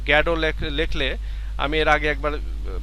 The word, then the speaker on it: Godot: দেখো, আজকের যে রাইটিং সেটা হচ্ছে ওয়েটিং ফর গডত। এইটার সঠিক উচ্চারণ হচ্ছে গ্যাডো। Waiting for গ্যাডো। তো আমরা এই যে গডত এটা বলি, কারণ হচ্ছে বানানটা যাতে ঠিক থাকে।